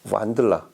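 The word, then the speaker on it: Wandla: 음의 시작부터 보면 브리카스트 M5, 그 다음에 DAC가 페럼의 완들라, 독일어에서 이 원더러에서 온 발음인데 완들라라고 그렇게 이름을 붙였고, 그 다음에 전용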